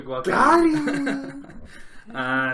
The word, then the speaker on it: Guadagnino: Call Me By Your Name, directed by Luca Guadagnino. I believe is how you pronounce that. Yeah. Starring... It's guacamole. You're right, Luca Guadagnino.